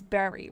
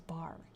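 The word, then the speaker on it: Barre: Your grandma lived in It's Berry, right? I I thought it was bar. I was corrected.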